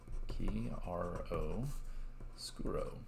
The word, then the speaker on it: chiaroscuro: chiaroscuro by the way chiaroscuro is spelled like this ki ro scuro it's from italian chiaro